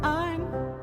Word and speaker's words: Ein: All you need to know is that Ein rhymes with Stein and he willingly explain space, gravity, and time from 79 to 55.